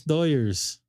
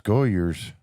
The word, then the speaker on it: Doyers: Neil, what's Los Goyers? Come on now. Doyers. Doyers. Is that their Well, the Hispanic what's folk. the promo called? The Hispanic folk here in Los Angeles area pronounce it Doyers.